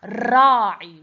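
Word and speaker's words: الراعي: Here this a cannot be pronounced. Okay. So we, and here we have la, because we have shadda here, these should be cancelled. Ra'i, we have to stress, we have shadda here.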